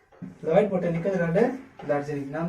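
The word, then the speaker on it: Lloyd: अब अगला देखते हैं, लॉयड बोटेनिकल गार्डन दार्जिलिंग। ये एक डबल एल है, यहाँ पे एक एल साइलेंट हो जाता है, तो लॉयड बोटेनिकल गार्डन दार्जिलिंग।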